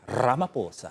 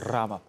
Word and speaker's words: Ramaphosa: Ramaphosa. I'm here for it. It's called a trill. That's like a vocal trill. Yes. Ramaphosa.